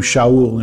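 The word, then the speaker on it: שאול: When we first meet him, he is introduced to us as Saul, pronounced in the Hebrew Shaul in our English Bibles.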